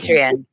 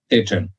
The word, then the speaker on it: Patreon: Am I pronouncing that correctly? I always get it wrong. Is it Patreon or Patreon? Patreon. Patreon.